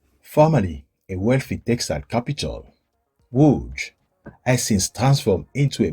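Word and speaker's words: Łódź: shopping streets, while movie buffs can discover why Wood is nicknamed Poland's Hollywood during a visit to Wood Film Museum.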